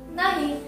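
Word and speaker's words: knee: लक्षात ठेवायचं एन च्या आधी जर के असेल तर क चा उच्चार करायचा नाही तर कशाचा उच्चार होणार आहे न चाच उच्चार होणार आहे म्हणून इथे बघा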